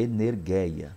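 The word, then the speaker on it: ἐνέργεια: Lembrando que não é aula de grego, mas a pronúncia, para de repente você quer pronunciar correta, é energeia, tá?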